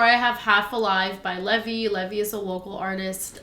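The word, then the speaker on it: Lvy: some in incredible um it's spelled like Levis or no not even it's spelled l v y um please check him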